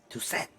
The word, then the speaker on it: Toussaint: Toussaint. They almost say it like Tucson. Tucson with an accent.